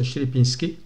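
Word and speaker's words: Sierpiński: Ou Sierpinski, ça dépend. Je crois qu'en polonais, on le prononce Sierpinski.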